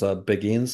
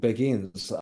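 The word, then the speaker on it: Beguines: nuns they were called beIN they of yeah they hopefully I'm pronouncing that right I believe it's I believe it's just like we would say begin um but it's spelled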